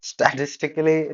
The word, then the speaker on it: statistically: Because that is statistically true because Statistically, like she has issues with that pronunciation.